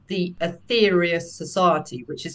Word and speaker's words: Aetherius: King is called the ethereus society which is spelled like the Greek ether a-e-t-h-e-r-i-u-s society and a